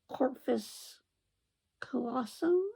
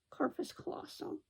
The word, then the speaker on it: corpus callosum: the two hemispheres so your corpus callosum i think is how it's pronounced corpus colossal i'm probably mispronouncing that if i know don't